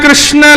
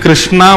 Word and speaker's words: कृष्ण: कृष्ण ला की बंधु कई लोग इस नाम को अशुद्ध बोलते हैं कई लोग कृष्ण बोलते हैं क लोग कृष्ण बोलते हैं कोई कृष्णा बोलता है भगवान का नाम शुद्ध उच्चारण करो नाम क्या है कृष्ण भगवान जय श्री कृष्ण